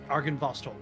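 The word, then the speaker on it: Argynvostholt: of whatever it's called uh how do you pronounce it where the dragon what argan vostol thank you argan vostol and i've heard that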